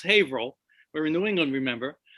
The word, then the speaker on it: Haverhill: in a place called haverhill spelled haverhill but pronounced haverhill we're in new england remember um just north